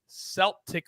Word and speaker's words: Celtic: It's Sunday, 8:30 a.m., Motherwell against Celtic with a soft C.